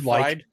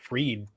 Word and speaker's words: Fried: with politicians spf's lawyers didn't they say fried fried we'd like well I don't fried is worse I mean if I was if I was his lawyers I would mispronounce it freed intentionally except won't tolerate that